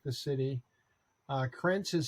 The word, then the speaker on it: Krajnc: are listening It's Milan like the city uh krentz is spelled k-r-a-j-n-c so that they can find your